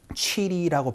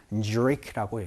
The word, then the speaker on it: Zurich: 취리라고 발음하지 않습니다. Zurich라고 얘기를 해주시는 것까지 같이 연습을 한번 해보도록 할게요. 갑시다. 시작. What time does the tram leave for Zurich로 말씀을 해주시면 되겠죠.